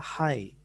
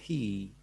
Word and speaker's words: hi: Ya, tapi kalian udah mengenal oh ini dibaca adalah hi karena abjad ataupun itu apa namanya? Pakai huruf I ya. I itu dalam bahasa vokal bahasa Inggris dibacanya I, jadi bacanya hi, enggak he.